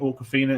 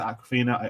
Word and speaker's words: Awkwafina: I can never pronounce her name. Awkwafina. Is it Aquafina?